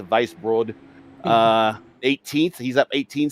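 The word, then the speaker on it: Weisbrod: will vice broad uh it's spelled w-e-i-s-b-r-o-d so if i'm using my german that's a vice broad uh 18th he's up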